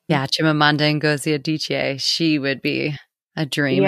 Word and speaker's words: Chimamanda Ngozi Adichie: Yeah, Chimamanda Ngozi Adichie.